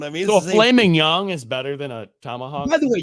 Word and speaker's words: mignon: So a filet mignon is better than a tomahawk. By the way, you say that wrong every single time. Filet mignon. Mignon, not mignon.